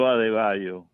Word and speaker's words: Adebayo: And so Adebayo. You made him Hispanic. Adebayo? No, that's his last name. That's how you pronounce his last name.